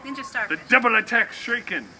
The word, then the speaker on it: shuriken: The double attack shuriken. Shuriken. Three syllables. Shuriken.